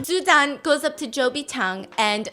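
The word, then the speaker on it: 周笔畅: Zhou Bichang and says, Chao Bichang. What? How do you say ugly? 丑比唱. Yeah, she goes, so Cho Bichang, tell me about what your dream is. So Cho apparently in Mandarin means ugly.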